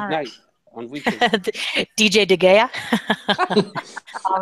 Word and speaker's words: De Gea: De Gea, whatever you want to be. Whatevs. De Gea.